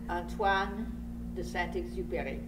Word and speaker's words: Antoine de Saint-Exupéry: The author's name is Antoine de Saint-Exupéry. Now let's hear it in French. Antoine de Saint-Exupéry.